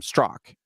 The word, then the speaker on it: Straka: like, "Oh yeah, no, it's pronounced Strock." Well, so the point is, I'm very used to people just assuming that my last name is Straka.